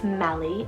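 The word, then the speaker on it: Mellie: feel super sweet we have melee spell m-e-l-l-i-e melly is a greek rooted meaning black and dark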